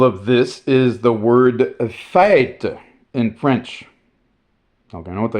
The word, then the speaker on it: fête: So you heard the way I pronounced that the old way. But since the softening, it has been fête.